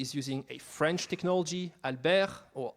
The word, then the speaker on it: Albert: using a French technology Alber or Albert to pronounce it the American way because why not um